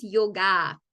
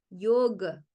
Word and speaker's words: yoga: sonido Entonces por ejemplo la palabra que todos nosotros decimos yo cierto yoga realmente no es yoga es yog tiene una a al final pero es casi muda yog yoga yoga ven pero no